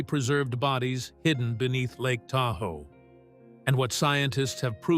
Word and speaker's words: Tahoe: Over time, early European settlers mispronounced the name, and Da ow a ga dew gradually became Tahoe.